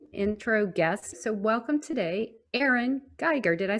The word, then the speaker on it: Erin Geiger: So welcome today, Erin Geiger.